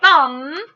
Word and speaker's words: thumb: a thumb but it has the mv digraph so you'll take your crayon or marker color pencil or color pen whatever you choose and you'll color in m b thumb is spelled t h u m b okay this next one